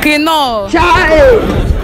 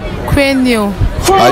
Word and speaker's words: quinoa: Quino. Come again. Why are you running? Why are you running? Yes, pronounce it for me. Quino. Eh? Quino. Come again. Quino. Come again. Quino. Are you sure?